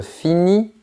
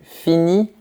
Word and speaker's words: finis: Attention à ne pas prononcer les lettres en gris.